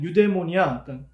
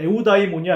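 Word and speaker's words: εὐδαιμονία: 영어식 발음으로 하면 유데모니아, 그리고 약간 독일 쪽에서 발음할 때는 오이다이모니아 뭐 이렇게 발음하기도 하고요. 저는 에우다이모니아 이렇게 발음하겠습니다.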